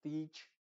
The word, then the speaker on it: teach: tienes que hacerlo larga no no lo digas como teach sino teach Clean steam Team cream